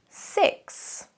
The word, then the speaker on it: six: First, let's look at six. Six. Now here we can see the phonemes look like this and the pronunciation six, I. It's a short E sound, I, like ship, ship.